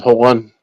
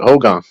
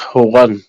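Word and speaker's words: hooghan: It's the way we pronounce it is Howan. Howan means house, but when it comes to Caucasians trying to pronounce it, they pronounce it Hogan.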